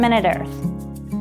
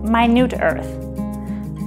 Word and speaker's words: MinuteEarth: Hi, I'm from MinuteEarth, or as I've sometimes heard it pronounced, MinuteEarth.